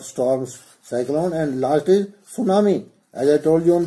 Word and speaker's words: tsunami: This is cyclone, drought, storms, cyclone, and last is tsunami. As I told you on that day, tsunami starts with T. T is silent.